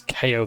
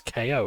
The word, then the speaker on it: KO: It's KO as in knockout, right? No, it's Ko.